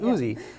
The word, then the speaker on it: Ouzi: spelled o-u-z-e-e i believe o-u-z-e yeah but it's pronounced oozy let's get to some of these recipes so